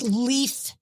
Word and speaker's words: Leif: But he was the guy that you knew somebody was not a fan if they pronounced it Leif Garrett. And I did pronounce it Leif Garrett.